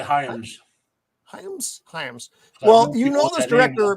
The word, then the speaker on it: Hyams: How do you pronounce this, Matt? So I don't fuck it up. Is it breathe, Roman? Hyams? Hamas? I would say Hyams. Hyams.